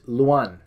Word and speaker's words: Luann: I went up and looked there, and it's Luann. That's how you pronounce it.